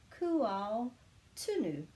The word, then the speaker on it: Kūaotunu: So we're going kū, and then we're going āo, āo, kūao, kūao, kūao. So we're just pronouncing each of them together. There's no silent letters in Te Reo Māori.